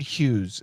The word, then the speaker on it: Hughes: Howard Hughes is the pronunciation.